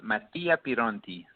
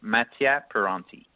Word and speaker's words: Mattia Pironti: you pronounce your name so in Italian it's pronounced Matty appear on T but in English I just say Matty at Ferranti well what I like